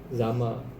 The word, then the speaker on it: XAML: Ada komponen namanya xaml biasanya dibacanya zamel sih zamel itu singkatan dari exlicationage